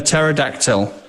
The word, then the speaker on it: pterodactyl: brooch brooch and a pterodactyl as you do is the three things you can make and if you spell pterodactyl wrong I'll let you off but this has a silent p okay I had to